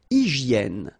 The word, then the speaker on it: hygiène: Une hygiène. So remember we've got this Y here, vowel, and it's pronounced like E. E, okay? Hygiène. H doesn't exist, H doesn't exist in French, so hygiène.